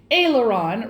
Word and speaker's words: aileron: salad course is next aileron rhymes with sailor john and comes from the french serve the ailerons with